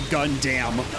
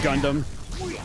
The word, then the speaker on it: Gundam: I'm reminded of how back in the day, you heard some people say Gundam instead of Gundam.